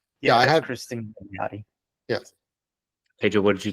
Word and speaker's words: Milioti: Kristen can't pronounce. I have it right up here. Kristen Milanotti Milioti. Might be that. Yeah. Yes. Yeah, I that's had. Kristen Milioti.